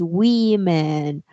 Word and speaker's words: women: you know yes but the correct pronunciation of this word is we man okay check the difference